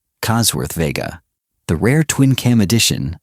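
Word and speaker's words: Cosworth Vega: The Chevrolet Cossworth Vega, pronounced Cossworth Vega.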